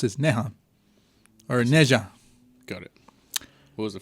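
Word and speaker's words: Ne Zha: h ah nea I see but how it's pronounced is Nan or Neja got it what was the first one called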